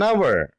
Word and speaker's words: hour: Examples: an hour, an honorable man, an honest girl, an air. You observe very clearly. An hour, H silent.